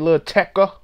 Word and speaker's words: Lil Tecca: And that's how you say it, Lil Tecca.